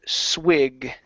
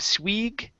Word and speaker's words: swig: All right, next up we have the word swig. Give me a short I instead of swig. It's swig. Swig.